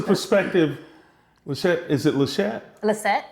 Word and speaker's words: Liseht: Liseht. Liseht. Okay. Why do I put an H in there? Because it is an H, but the H is silent.